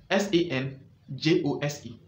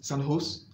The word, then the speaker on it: San Jose: actually the conversation is sun house or san jose till today in america the city is known as sun house because in spanish jay is pronounced as h why did the english